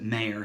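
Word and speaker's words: Maher: from Michael Mayer when he spells this name last name mah are bi pronounces it Meir so if you'd like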